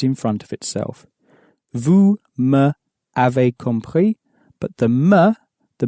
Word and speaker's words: m'avez: familiar with these abbreviations, you might wonder what m'avez is.